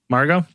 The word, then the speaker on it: Margot: How did you pronounce her name? Margot.